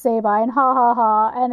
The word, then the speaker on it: Sabine: that musical called The Sobbin' Women that Oh. they make it all sound like these guys don't know that it's supposed to be pronounced Sabine, and ha ha ha,